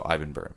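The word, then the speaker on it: Ibbenbüren: Ibbenbu with the dots over it, REN. So Ibbenburen.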